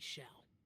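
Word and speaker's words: Xiao: formal just call me Sha Sha sure I think I've been pronouncing it wrong I said xia a senseless Bia I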